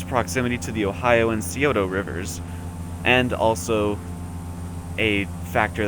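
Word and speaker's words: Scioto: kill this pronunciation uh I believe it's codo s c IO t o I believe I believe that would be Coto right yeah sure due to its proximity to the Ohio and Coto rivers and also a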